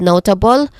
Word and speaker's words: notable: words, notable and distinction, starting with notable, where it has three distinct syllables. No, which is our stressed syllable here, it has a long O sound. Notable. Okay? Next to that is ta with a it has a schwa sound.